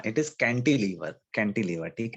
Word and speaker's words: cantilever: हाँ, इट इज कैंटिलीवर, candy नहीं है, कैंडी मतलब आप वो क्या खाते हो, आइसक्रीम खाते हो, वो कैंडी की Sweet बात नहीं चल रही। candy. हाँ इट इज कैंटिलीवर, कैंटिलीवर।